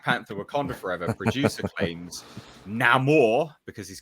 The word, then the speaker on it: Namor: ladies and gents, where he says his name and he says it the Latin way. That's right, Paulie? Namor. That's how you would pronunciate it if you were Spanish.